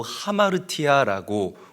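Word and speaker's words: ἁμαρτία: 여러분들이 잘 알다시피 죄라는이 단어는 헬라어로 하마르티아라고 우리가 읽고 발음을 합니다.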